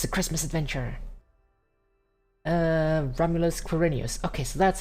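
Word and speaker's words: Romulus Quirinus: Romulus Quirinius. Okay, so that's how it's pronounced, yes.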